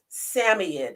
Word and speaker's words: Samoyed: Samoyed is really the actual correct pronunciation of it.